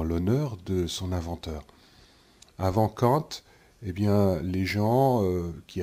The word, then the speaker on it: Kant: Donc ce philosophe, c'était un philosophe allemand qui s'appelait Kant, Emmanuel Kant, ou Kant si vous préférez. Prononcez ça à l'allemande.